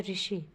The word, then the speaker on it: ऋषि: स्वर नहीं रहा है क्योंकि अब इसका उच्चारण हिंदी में ऋ यानी र हलंत प्लस इ अर्थात र हलंत व्यंजन और ई स्वर का संयुक्त रूप है।